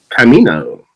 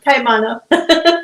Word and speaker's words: Caimano: I have with us and Camino. Did I get that right? Camino? Caimano. Camano. Okay.